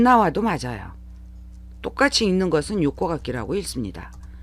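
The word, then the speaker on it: 横書き: 똑같이 읽는 것은 요코가키라고 읽습니다.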